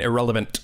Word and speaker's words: irrelevant: this man is irrelevant he pronounces the t in irrelevant making it just slightly more biting there's a really cool